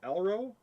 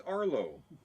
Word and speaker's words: Arlo: spelled my name wrong yeah elro it's Arlo a r l i